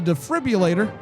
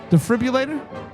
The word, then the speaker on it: defibrillator: He tells her that he's going to need to use the defriulator. Did you say it right? Defibrillator. I don't think there's a U inside there. Defi defibrillator. Defibrillator. There's an R.